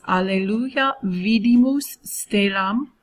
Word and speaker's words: Alleluia Vidimus Stellam: Just so you know, I'm going to say all of these so that you know how to pronounce them. The first 2 are in Latin. It's Alleluia Vidimus Stellam.